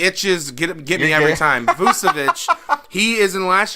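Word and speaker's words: Vučević: Nikola Vujicic, am I saying it right? I think I'm pronouncing it right. He's the big man down there in Orlando. I thought it was Vucevic. No. You're right. It's Vucevic. Okay.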